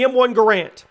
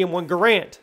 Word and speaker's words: Garand: Now, it's referred to as the M1 Garand, not Garand. I've been saying it wrong for years.